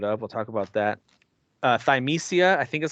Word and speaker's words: Thymesia: Thymesia, I think is how you say it.